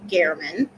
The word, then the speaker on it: German: His name is Jeff German, spelled German but pronounced German.